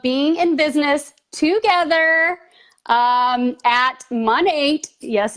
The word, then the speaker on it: Monat: in business together at money yes it's pronounced money and we decided we're